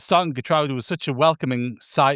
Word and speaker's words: Geertruida: Hey, he could attract some attention from Turkey, and if he went there, they could pronounce it Geertruida rather than Geertruida, couldn't they? Or Geertruida.